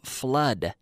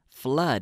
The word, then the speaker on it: flood: sound here we have flood flood and it rhymes with blood Sangre Sangre blood in